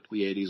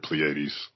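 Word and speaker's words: Pleiades: festivals talk about the Plleades or the um and I hope I'm pronouncing that right. It's P L E I A D E. I've always heard Plleades.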